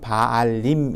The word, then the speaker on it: Baalim: 여기 발이라고 번역되어 있는 영어 스펠링을 보게 되면 baalim에 가지고 그냥 읽으면 바알림 이렇게 읽혀지는 단어입니다 그래서이 바알림이라는 단어는 바알이라는